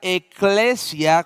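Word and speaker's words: ἐκκλησία: Y vamos a comenzar con qué significa la palabra iglesia, que en el idioma griego se pronuncia eclesia con doble K y significa los llamados fuera.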